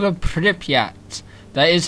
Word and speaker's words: Pripyat: But today I'm going to be reviewing Stalker, called a Pripyat. That is how you pronounce it, don't try questioning me on that.